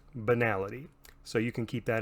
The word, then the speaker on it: banality: Generally speaking, the stat called banality is always pronounced banality.